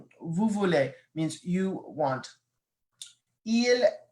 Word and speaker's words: ils: Notice I'm not pronouncing the S, so I'm not saying ils or elles. The only time I would pronounce the S is if there was a vowel.